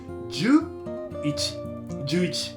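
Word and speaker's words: 十一: Jyuu + ichi = "Jyuu ichi".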